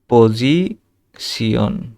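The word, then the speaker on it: Position: তারপরে পজিশনকে পজিশিয়ন, পজিশিয়ন।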